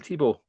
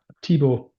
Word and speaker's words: Thibault: Tibo. Tibo.